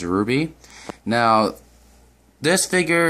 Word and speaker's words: RWBY: from the series RWBY otherwise pronounced as Ruby now this figure it's